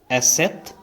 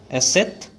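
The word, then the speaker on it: Eszett: And here is another abnormal letter like B, which is pronounced as asset. Once again, asset.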